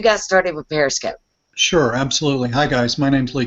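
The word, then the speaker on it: Absolutelee: My handle is at absolutely, that's spelled like the word absolutely, except it's my name at the end, L-E-E, absolutely.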